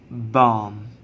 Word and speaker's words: bomb: For example, this we will pronounce bomb, bomb. We don't pronounce b sound.